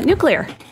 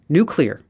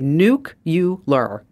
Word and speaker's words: nuclear: a r how would you say that uh nuclear okay nuclear okay some people say nucular nucular nucular y I remember that exactly y okay